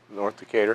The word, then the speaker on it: Decatur: North Decatur.